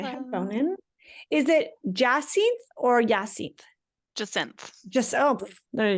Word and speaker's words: Jacinthe: Is it Jacinthe or Jacinthe? Jacinthe. There you go. Yeah, the French version of the hyacinth flower, although I'm not French. My parents were just hippies and liked flowers. Jacinthe sounds so lovely.